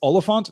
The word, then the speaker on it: Oliphaunt: here from Jenna it's Oliphant not elephant yes all the font is a Middle English rusta sysm it is a it is a deliberately a deliberately mispronounced and misspelled version of elephant all the font was